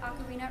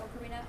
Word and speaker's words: ocarina: First of all, there are two pronunciations of the word ocarina or ocarina. I tend to use them interchangeably. They're both correct. So if you hear either one, they're both fine.